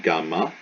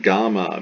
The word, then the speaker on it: gamma: on so we have gamma gamma translation this is a ga and it's like get never soft never ja never like the g in gem it's always ga a hard g dalet becomes the greek